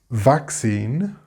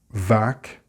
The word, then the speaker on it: vaccine: Vaccine has the V sound, of course, which I hope you're able to pronounce well at this stage. Vaccine. Seen is exactly like the participle of the verb to see.